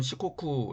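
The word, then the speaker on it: 四国: 그 옆에는 4 9 일본어 발음으로는 시코쿠 라고 하는 섬이 있습니다 그리고 인삼 처럼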